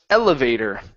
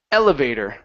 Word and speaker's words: elevator: right very nice uh this word here is pronounced elevator stress at the very beginning elevator elevator okay one more